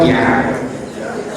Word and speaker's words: bia: How do you say call if you're from Anioma or from the east? Anybody from the east? I believe nobody here will say it's not Bia.